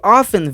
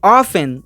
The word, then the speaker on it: often: E o segundo detalhe é a pronúncia, porque eu posso pronunciar com o T e sem o T.